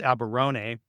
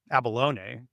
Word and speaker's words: abalone: I think it's pronounced abberon. Um abalone. Got that mixed up.